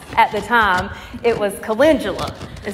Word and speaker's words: calendula: and transplanted them out there and couldn't even pronounce at the time it was calendula it said or it was calendula and I said it calendula I said it the wrong way okay I